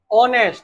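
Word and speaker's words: honest: लगाया तुमने तुमने लगाया इसे ऑनेस्ट पढ़ते हैं क्या पढ़ते हैं युवराज तुम्हाराय लगा था जो बिल्कुल गलत था इसमें एच साइलेंट रहता है एच को पढ़ते नहीं है यह क्या है ऑनेस्ट क्या पढ़ते है इसे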